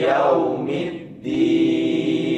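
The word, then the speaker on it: يوم الدين: A e a E a E a R ar ar sat du arrahmanirrahim maiki yaumiddin yo ya ya perhatikan di bab itmamul harakahnya iftah iftah f buka mulutnya dibuka Ya.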